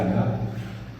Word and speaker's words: ágape: amor entre os irmãos, e o agape é o ágape, que eles chamam aí, que pronúncia certa é agape, que é o amor